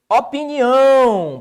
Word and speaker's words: opinião: Opinião. Professor, qual a sílaba tônica de opinião? Tá aqui, ó. Então, ela é uma oxítona.